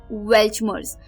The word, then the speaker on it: Weltschmerz: ये अलग अलग, जैसे UK, US इंग्लिश, तो वहां पे जो इसकी प्रोनाउंसिएशन है वो थोड़ी अलग हो सकती है, बट ये वर्ड जो प्रोनाउंसिएशन मैं यूज कर रही हूँ वो है वेल्चमर्स।